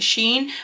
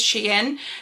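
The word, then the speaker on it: SHEIN: trouble saying that because i always want to pronounce it sheen but is she in so this is like the palette that we're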